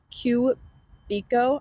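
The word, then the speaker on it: Kuebiko: she's outside like International it is qo I think is how you pronounce it k u e b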